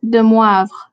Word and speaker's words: de Moivre: hear you say this for me so it's pronounced de moivre you are correct yes and you have it